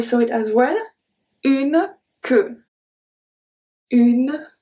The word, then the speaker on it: queue: When U is after a Q, we don't pronounce the U. So this one we saw it as well. Une queue. Une queue.